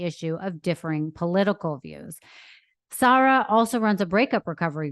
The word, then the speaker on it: Sara: So my first question is, do you pronounce it Sara, or is that just the American way? Is it Sara? It's Sara, actually, okay. yeah. Okay, so even in America, we should say Sara.